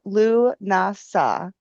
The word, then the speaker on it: Lughnasadh: So, it is pronounced Lunasa. The ethmology of the name Lunasa originates from the Irish god Louu and the word Nasa meaning assembly or festival.